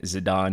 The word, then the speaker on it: Zidane: at these figures for zidane zidon however you guys want to pronounce it I believe the official pronunciation is zadon though by the way